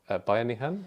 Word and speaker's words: bayanihan: by Jan Gale, is this Filipino concept of bayanihan. Am I pronouncing it correctly?